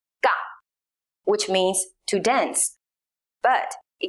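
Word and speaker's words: က: That is pronounced Ga. It sounds something between the English K and the English G, like the K sound in category.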